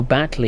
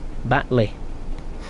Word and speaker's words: Batley: all right lee oh oh battle is that how it's pronounced oops sorry if i haven't disgruntled you northerners baitly batley uh folks i've got